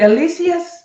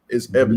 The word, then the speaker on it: Evis: Is it Alicius? I don't want to say his name wrong. His name is Evis. No, Evis. Brother Evis.